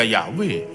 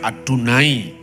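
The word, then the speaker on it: יהוה: misalnya ee Sima yisrael tertuliskan yhwh y tidak pernah dibaca yahwe kalau orang Yahudi membaca adunai kalau dalam doa kalau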